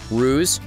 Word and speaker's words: Ruse: Get it? Ruse? Rhymes with cruise?